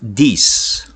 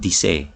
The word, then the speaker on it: Disse: Next, we have this space of Dis, right? Not Disse, right? So it's pronounced as space of Dis.